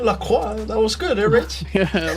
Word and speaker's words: Lacroix: How was that pronunciation? Lacroix? That was good, Rich? Yeah, Lacroix.